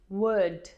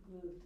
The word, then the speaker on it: would: Wood is pronounced without an L. The L is silent. Wood. Wood.